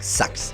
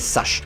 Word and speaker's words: Sachs: amortisseur de la marque sax ou ce qu'on appelle Sachs ça dépend comment vous préférez le prononcer ici bien sûr c'est